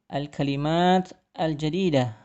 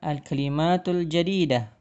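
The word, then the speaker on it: الكلمات الجديدة: Jadi di sini al-kalimat al-jadidah tulisannya adalah al-kalimatu al-jadidatu. Namun jika kita membacanya maka dibaca menjadi al-kalimat al-jadidah atau bisa juga al-kalimatul jadidah. Jadi di akhir dari hurufnya itu disukunkan.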